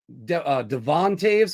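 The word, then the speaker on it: Toews: And then looking at their defense, Morgan Riley, Devon Taves.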